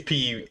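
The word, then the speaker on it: Austin Peay: So I don't even know if I'm pronouncing that. Let's correct. go P. It's P. Let's go P-E-A? P. What? It's Yeah, P-E-A. It's P. P-E-A-Y.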